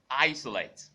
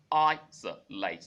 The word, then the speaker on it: isolate: And then we went to isolate. Isolate. Isolate. Not isolate.